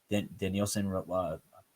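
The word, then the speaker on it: Dinelson: You have Danielson, that's how you're supposed to say his name, Lamet.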